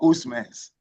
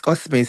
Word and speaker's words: Osmans: is your name, does it pronounce Osmans or Usmans? Yes, it's Osmans. It's actually Osmans, sir.